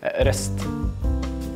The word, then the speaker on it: ROEST: What's the correct pronunciation of the company? Yeah, ROEST.